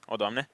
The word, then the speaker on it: Odoamne: Odoamne. Odoamne? Odoamne? Yeah. Fast. Yeah, and you're kind of like gasping at the end, and you're like, Odoamne.